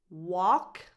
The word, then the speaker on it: walk: These 2 verbs have a silent L. Walk, talk. No L, none.